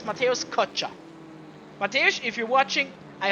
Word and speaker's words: Kocza: Told me that it's probably Kocza, not Kocza. What I have talked about, used for how often, I don't know. But apparently it's Mateusz Kocza.